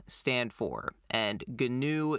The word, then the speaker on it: GNU: stuff what what does ganu stand for and ganu is spelled gnu for those that uh didn't know uh how it's spelled gnu so what does that